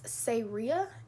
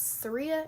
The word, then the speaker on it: Sayria: I guess the first thing is my name is Sayria. It's Say, the word Ria, that's how you pronounce it. It's not Saria, it's not Saraya, it's not Syria, it's Sayria. It's like Maria, but with an S.